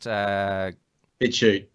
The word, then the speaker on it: BitChute: I mean, you're on the YouTube platform, but you're also on their free speech alternative, which is, how do you pronounce it? BitChute.